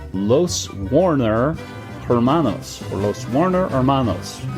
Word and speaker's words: Hermanos: design called Los Warner Hermanos or Los Warner Hermanos you do not pronounce the h in Spanish Hermanos right anyway yeah Hermanos and it is by